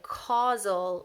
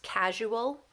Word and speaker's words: causal: what we call a causal relationship 99% of freshmen are going to either misspell this or mispronounce this it's not casual its causal so switch that you and that s so